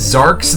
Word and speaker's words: Xarx: This is Zarks the Varks. That's spelled Xarx.